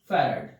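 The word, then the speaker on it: farad: गया कलाम पर वोल्ट जिसको हम बोलते हैं फैरड एफ ए are eddy कुछ लोग इसको फैरा भी बोलते हैं जो भी प्रोनाउंस को अच्छा लगे फैरड या फिर फैराडाइज्म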